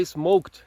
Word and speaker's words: smoked: Ela disse que não aguentava mais ouvir eu falando essa pronúncia errada o dia inteiro, que esse final em ed, o certo é não falar o e, então ficaria smoked.